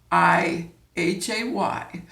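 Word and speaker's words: hay: that's a trick is the word I H a why the H is silent but if I wanted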